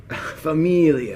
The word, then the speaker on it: familia: Familia. Familia.